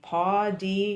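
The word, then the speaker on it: pau d'arco: Um and I don't know how to say the pao d'arco Pao d'arco, yeah.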